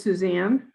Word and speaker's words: Suzanne: screen and forgive me is it suzanne or susan what's the what's the right pronunciation there it is suzanne suzanne would you uh